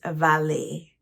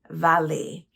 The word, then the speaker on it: valet: from or Diet a valet is a person responsible for parking cars this word is of French origin and therefore the t is not not pronounced the pronunciation is valet valet and it's customary for